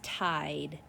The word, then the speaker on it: tide: Our first word is tide. T-I-D, tide. I see a long vowel, silent E.